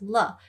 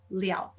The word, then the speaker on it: 了: So you notice how like the same character 了 in the first place, it is pronounced le, and then in the second place, it is pronounced liao.